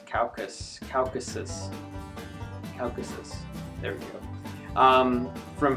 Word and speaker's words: Caucasus: uh correct me from wrong but I'm probably pronouncing this wrong anyways um caucus calus Caucasus Caucasus there we go um from here it seems